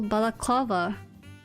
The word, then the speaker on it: balaclava: Stress on third syllable. Balaclava. Balaclava.